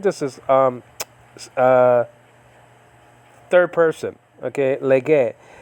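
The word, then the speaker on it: λέγει: Okay, lege. Spelled out capital lambda, epsilon gamma, epsilon iota, or lege. Okay. Now nowadays it'll be pronounced legi, but you know that's modern Greek though.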